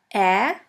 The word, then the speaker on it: Ä: We call it Ä, or A Umlaut. A Umlaut. A Umlaut is pronounced like the E in the word melon or in the A of the word H.